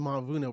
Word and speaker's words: Mavuno: And how do you pronounce the organization? The Mavuno Project.